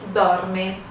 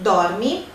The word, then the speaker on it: dorme: Se uma palavra termina com E, você tem que pronunciar aquele E. Porque algumas pessoas na nossa língua têm a tendência de pronunciar o I em vez do E no final de uma palavra. Então, se você, por exemplo, disser lui ou lei dorme, o italiano não vai entender, quer dizer, você está falando errado.